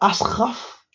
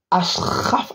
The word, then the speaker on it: Achraf: Hakimi wesh les garshraf ça se prononce comment les gars Ashraf Ashraf Hakim Achraf Ashraf HD